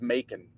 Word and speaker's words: Macon: because I was like it's got to be pronounced like a cool way but it's not it's just making apparently apparently oh that'd be